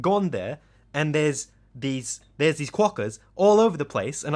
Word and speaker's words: quokka: And they're called the quokka. What is it? How do you spell it?